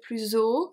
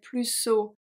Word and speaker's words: plus haut: I found a couple of mistakes in the audio, especially plus haut, so higher. They don't even say plus haut. They don't even make a liaison with a Z sound. They say plus haut.